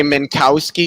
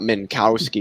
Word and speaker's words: Minkowski: plonk it's definitely plunk just like people say minkowski spacetime it's not minkowski spacetime it's minkowski spacetime minkowski so are you gonna